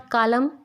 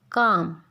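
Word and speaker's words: calm: जब भी vowel A, O and U इनके बाद L लेटर आता है तो वो साइलेंट हो जाता है। एज इट इज़ इन काम, इट्स नॉट कालम, काम।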